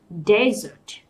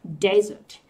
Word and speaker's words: desert: Và cái từ sa mạc này thì chúng ta phải đọc là desert, desert. Đấy, desert. Thì cái âm này chúng ta sẽ nhận thấy ở đây nó là Z, desert, Z.